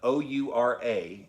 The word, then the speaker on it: Oura: But O-U-R-A is how you spell it, Oura.